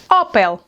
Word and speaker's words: Opel: Another car brand, this one is “ÓPEL”, “ÓPEL”.